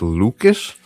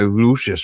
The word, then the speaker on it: Lucas: going to be like, they say his name is Lucas. I've been calling that guy Lucius for like seven years.